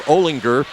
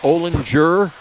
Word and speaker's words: Olinger: Avon Lake Coach Dave Olinger I asked him how do you pronounce that last name is it Olen Jer he said no it's Olinger like in gou and that's what I tell